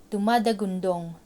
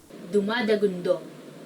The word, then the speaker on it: dumadagundong: Dumadagundong, rumbling. Dumadagundong, meaning rumbling. Doesn't it sound like it's a rumbling noise? Like, dumadagundong.